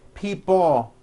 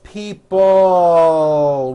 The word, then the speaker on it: people: Notice in this last word, people, it's not pronounced people with your tongue not moving. It's people with your tongue slowly moving up and your jaw remaining down. Stretch out that L sound. People, like that.